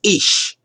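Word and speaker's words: אִישׁ: In Hebrew, the original language of the Old Testament, the rough pronunciation for man is ish, and woman is ishash. See, man, woman, ish, ishash.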